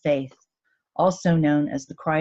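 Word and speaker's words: Fáth: It is true irony that the first word is pronounced faith, also known as the cry of the deer, which is another attachment to the head druid or the All-Father.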